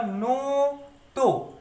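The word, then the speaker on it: ノート: तो ये ओ है, इसका काम होगा ओ को इलोंगेट करना, तो इसका प्रोनाउंसिएशन होगा नो तो।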